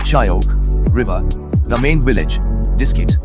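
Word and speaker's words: Shyok: maintained by the discrete monastery on the oak pronounced shayok river the main village diskette is home to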